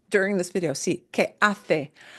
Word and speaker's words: hace: Sí, que hace. Hace is hace. This is the example of the Castilian pronunciation.